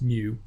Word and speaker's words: mu: of having X bar we have it it's pronounced mu and this is what it looks like and